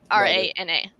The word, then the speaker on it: Rana: streaming um r-e-i-g-n-i-n-g rana r-a-n-a or raina whatever you want to call me i answered everything but it's technically pronounced rana yeah i called her reyna for literally like i